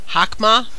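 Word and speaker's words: Chokhmah: oh come on right here right there yeah hokhmah come on there you go come on Hawks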